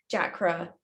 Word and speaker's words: chakra: why like of course of course chakra you don't pronounce the h but then you know